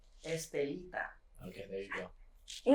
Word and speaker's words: Estelita: so so how do you say your name estelita okay there you go you got it that's